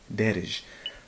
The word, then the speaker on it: Daarej: to pronounce the name it's an Arabic name actually darish but yeah that's the